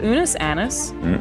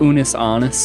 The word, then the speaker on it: Unus Annus: It is called Unus Annus. Did I pronounce that correctly? No. How does it pronounced? Unus Annus.